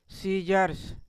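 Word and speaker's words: scissors: सी के बाद एस के बाद सी आ रहा है। सॉरी ये एस है। एस के बाद क्या आ रहा है? सी आ रहा है। तो इसको हम क्या पढ़ेंगे? इस वर्ड को सीजर्स।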